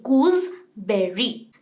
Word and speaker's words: gooseberry: Again GOOSE का pronunciation गूसे नहीं होता है, S का साउंड नहीं आता, Z का साउंड आता है, GOOSE इज गूसबेरी।